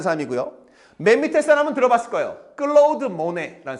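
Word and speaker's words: Claude Monet: 클로우드모네라는 에이. 클라우드가 아니에요. 명어 발음이 아니니까. 클로우드모네.이 이 여섯 명의 화가가 나올 거다.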